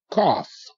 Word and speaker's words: cough: to school okay good cough c a c cough okay now look GH is not silent this time GH is making the F sound f- f- f-